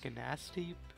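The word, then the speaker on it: Gnasty: Some of the dragons say Ganassi with the G, but I think the G is silent, so it's whatever.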